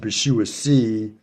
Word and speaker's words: Bishuasi: I pronounce it Bishuasi, giving it what I believe is an Ashkenazic pronunciation.